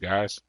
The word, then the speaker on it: guise: legalism oh under the guise of them was that you say it guys like the skies like